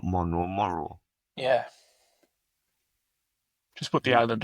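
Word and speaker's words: Moreau: Monroe, not Monroe. That's what I said, isn't it? Monroe. Monro. No, it's not Monro. Monro. It's Mororrow. Moro.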